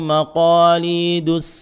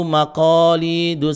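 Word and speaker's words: مقاليد: Lahu maqalidus samawat, jangan dibaca lahu maqalidus samawat, kurang tebal, pangkal lidahnya naik, ya.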